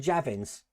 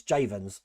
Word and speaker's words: Javens: I got it wrong. So Bex Javens. And I said Javins. Okay, so it's Javens.